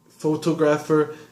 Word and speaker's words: photographer: photograph er its photographer pronunciation wise photo photo photo each o makes it down but then when you change it to photography or photographer both bones change the first one changes - ah and the second one changes - ah photography photographer both those chains pronunciation there why I know sorry